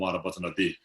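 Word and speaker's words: Arapacana: Arapatanadi, the mantra Om Arapatanadi. And then from did me watch Arapata Chubarisha. Did just Arapatana. Yeah. Without the D is the seed syllable, without the D, just Arapatana.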